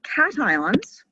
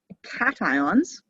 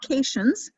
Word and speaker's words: cations: don't know if you learned them last year cations cations not casions cations it looks like haitians but it's pronounced cation they have a positive charge and